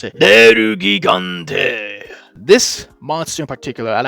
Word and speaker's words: Nergigante: And the first figure that they have created to start the new line is Nergigante, or as I like to pronounce it, Nergigante.